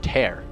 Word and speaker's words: Tier: And he was like, I mean tear, like rip. And so he did that. He goes, well, it's pronounced tear.